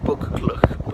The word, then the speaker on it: Buccleuch: Buccleuch is spelt B-U-C-C-L-E-U-C-H. Looks like Buccleuch, but anyways, Buccleuch.